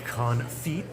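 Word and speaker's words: confit: Well, duck confe. Firstly, I know you don't pronounce the tea. It's duck conf. It's French. So, they don't say t's over in France.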